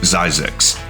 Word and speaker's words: Zzyzx: Hidden deep in the Mojave Desert is one of the strangest places in California, Zzyzx Road. And yes, it's actually pronounced Zzyzx, and it has that many Z's.